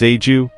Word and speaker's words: Agaw: In historical literature, the term was commonly spelled as Agaw and pronounced locally as agew, both being interchangeable.